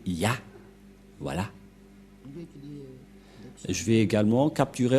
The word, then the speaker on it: Yah: La prononciation de ce terme est ceci, c'est Ya.